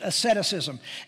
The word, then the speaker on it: asceticism: amorous ettus ism excuse me that's how it's pronounced asceticism AES CET I see is in now this